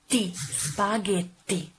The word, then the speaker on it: spaghetti: of the following word spaghetti the correct pronunciation is spaghetti spaghetti and remember to use the tt-this spaghetti not spaghetti there's no D very strong tea also when you pronounce